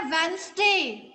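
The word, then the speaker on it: Wednesday: Next आपका है वेंसडे. Which letter is silent in this word? वेंसडे. D. वेंसडे, यस, D silent.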